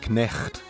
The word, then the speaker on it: knecht: Notice how in Dutch the K is pronounced. This is yet another example of English throwing a sound away without changing the spelling.